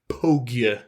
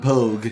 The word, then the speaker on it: Pogue: Mark Hanlon and John Pogue. That's a name. It's spelled like Vogue, but with a P. Oh, John Pogue.